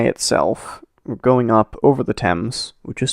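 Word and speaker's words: Thames: from the eye itself going up over the temps which is spelled themes for some reason um the English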